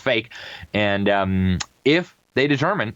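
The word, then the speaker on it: PHEIC: declare a fake a a public health emergency of international concern, pronounced fake.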